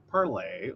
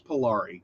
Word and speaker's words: Polari: But yes, so all right, so parlay, or see, I always thought it was Polari because this is one of those words I learned by reading, not by hearing. I've heard it pronounced both.